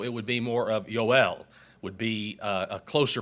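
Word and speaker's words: יוֹאֵל: the name Joel remember in the Hebrew there is no J sound it's a y sound so it would be more of yoel would be a closer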